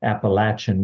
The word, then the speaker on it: Appalachian: years I know how to say it now Appalachian mountains and um the um and that's the